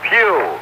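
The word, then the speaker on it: Pough: he is the number three center for the Pittsburgh Steelers and the other man number 85 is Ernest Pugh it's p-o-u-g-h but pronounced as the Pew in church this being Sunday 10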